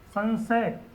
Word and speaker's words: संशय: अब ध्यान देना उच्चारण पर, यहाँ पर न नहीं बोल रहा है, संशय न्य बोल रहा है,